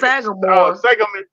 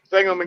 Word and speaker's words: Sangamon: It's not Sagamore. Sangamon Yeah, County.